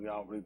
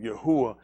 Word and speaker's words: Yahuwah: Yahuwah, they'll put Yahweh, they pronounce Yahweh, but Yahuwah is the existing one.